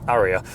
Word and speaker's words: Ariya: The Nissan Ariya, pronounced like Ariya.